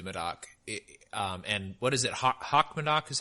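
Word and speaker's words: Haut-Médoc: Hock Medoc is how you say it, or Haute Medoc? That's the sub-region, Haute Medoc.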